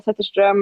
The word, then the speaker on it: Zetterström: That's IDA, and last name is Zetterström, and I know I'm not pronouncing it as beautifully as it is. It's Zetterstrom.